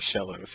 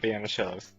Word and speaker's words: Shellos: I am the coach of the Shellos, okay? Pronounced like banana. The Shellos.